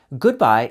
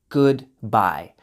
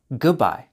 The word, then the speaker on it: goodbye: Goodbye is slightly more formal, especially when you pronounce the whole word. Goodbye. Most of the time, we just pronounce the letter G and bye. Goodbye. Goodbye. That's the most common way in spoken English.